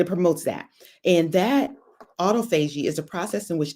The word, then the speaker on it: autophagy: amazing it promotes af auto f auto fuji autophagy i meant to practice it before i came up it's spelled let me spell it for you a